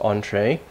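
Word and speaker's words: entrée: number five entre so this is from French it's pronounced entree or untie in French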